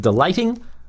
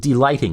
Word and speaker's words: D-Lighting: may not be experts active delighting or d-lighting active d-lighting is the way I like to pronounce it I leave it on